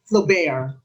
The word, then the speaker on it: Flaubert: Number 7, this novel by Gustave Flaubert, some people pronounce it Flaubert, was met with disapproval.